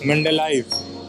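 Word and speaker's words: Mendeleev: actually pronounced thank you for that the actual pronunciation is mendelife that is actually very good it's actually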